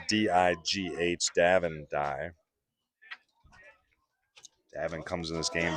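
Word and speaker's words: Digh: Again, if I'm pronouncing his name wrong, give me a phonetic spelling in the comments. Spelled D-I-G-H, Davin Dye.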